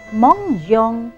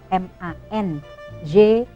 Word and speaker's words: mangeons: sini adalah kalimatnya nous mangeons le bakso. Ya, kami makan bakso. Bukan MANGONS, tapi sebelum ONS il y en a la lettre E. Harus ada huruf E-nya.